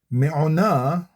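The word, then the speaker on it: מעונה: Me o na Elohe kedem u mitachat zero'ot olam. Vayegaresh mipanecha oyev. Vayomer hashmed. Slowly now. Me o na. Three syllables.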